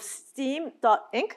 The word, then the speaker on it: STEAM.inc: She's also a CEO of STEAM.inc, that's the right way to pronounce it, and the representative director of STEAM Band Association and a thematic project producer for EXPO 2025.